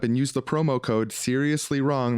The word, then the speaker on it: Srsly Wrong: use the promo code seriously wrong that's spelled srsly they're going to send